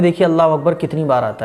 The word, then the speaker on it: अल्लाहु अकबर: अब दोनों को जब आप मिलाएंगे तो हो जाएगा अल्लाहु अकबर। अकबर अकबर, कुछ लोग अकबर नहीं अकबर, अल्लाहु अकबर। तो ये सही प्रोनाउंसिएशन है, अल्लाह अकबर ऐसा नहीं।